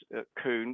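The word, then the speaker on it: Coon: what about other people whose names may be not spelt c double o n but are um are pronounced kuhn what about those people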